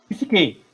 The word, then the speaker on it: psique: A primeira ali, como é que eu vou pronunciar? Psique? Psique? Perfeito. Psique.